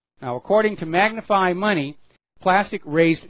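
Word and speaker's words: Plastc: now there is a company called plastic spelled without the ca p a STC it is a smart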